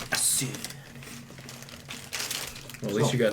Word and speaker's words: Asure: But the E is like the E in Pokemon. Pokemon. Oh, I knew how to say it. I just didn't know how you spelled it. Sure. Sure. Right. Assure.